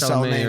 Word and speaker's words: Soleimani: Soleimani, right?